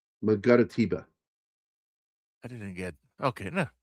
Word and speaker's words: Mangaratiba: It's Mangara and then Tiba. Mangaratiba.